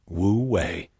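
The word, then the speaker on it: wu wei: Wooi pronounced wooi is a central principle of Daoism.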